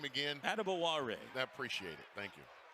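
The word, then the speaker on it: Adebawore: So I know how it used to be said by everyone, but PJ said, actually, how you say my name is Adebawara.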